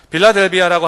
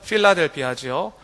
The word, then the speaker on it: 빌라델비아: 빌라델비아라고 하는 말은 원래 본 발음은 필라델피아지요.